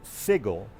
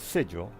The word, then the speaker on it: Sigil: bit later but anyway everybody's pronounce pronouncing it sigle instead of sigil so the uh the